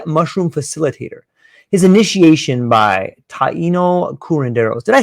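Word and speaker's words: Taíno: His initiation by taino curanderos. Did I say that right? Is it taino or how do you pronounce That's correct. that? That's correct. Taino. Yes.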